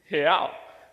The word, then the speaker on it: real: See, in Portuguese, the way that you say real is real. So let me teach you how to say it. So on the count of 3, let's say he. So it's he, but without the e sound.